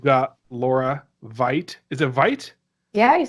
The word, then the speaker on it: Veit: Is it Veit?